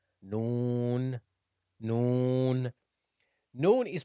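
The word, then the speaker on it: نون: 25th letter is no it's like the N alphabet in the English language noon noon noon noon is pronounced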